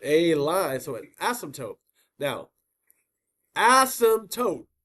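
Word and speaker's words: asymptote: So, as now as tote as tote like the P is silent like like pterodactyl.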